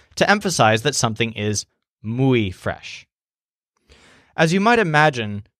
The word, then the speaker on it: muy: Now I have to point out that many English speakers learn this word but mispronounce it, saying moy or something like that. That's an error that we make because the oi sound is so common in English. It's not as common in Spanish.